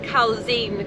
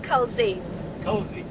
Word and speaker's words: Culzean: So we read it as Culzean Castle, and we went on to pronunciation and they said Culzean Castle. So you drop the Z apparently. So I've clicked on another pronunciation video and then they said Culzean Castle.